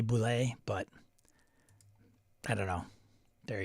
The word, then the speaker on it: boule: and then I say so I'm kind of torn on the bullet I know it's supposed to be Boule but I don't know